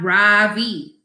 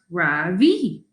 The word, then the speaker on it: Rafi: and stands up straight my name is not ravi he says it's pronounced ravi i'm not going to